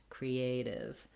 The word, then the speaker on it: creative: For creative, the letter E does say the tense E sound here. Create, creative. And then native, fairly straightforward, just our nay plus the div.